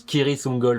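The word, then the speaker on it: Cirith Ungol: Oui, normalement ça se prononce Kiritungol, mais bon, on va pas en faire un foin.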